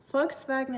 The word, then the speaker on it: Volkswagen: Volkswagen it is, yes. It's really really easy to pronounce, I think. Just um know that the V is a like an F for us.